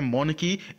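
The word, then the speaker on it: monarchy: है उसको बोलते हैं मौन की एम ओ एन ए आर सी ह ए आर साइलेंट होता है इसलिए इसको मौन की पढ़ते हैं ठीक है राजतंत्र जिसको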